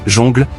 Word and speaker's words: jungle: Après la coupure, Nagi rappelle que le mot jungle se prononce jongle dans la chanson.